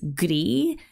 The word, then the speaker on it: Glie: is pronounced in Japanese Glee sounds incredibly similar to the word for gray in French Glee and appropriately it